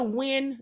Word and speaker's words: Huynh: know, the letter that Gina Hun or Gina Wyn, that's how you say her name.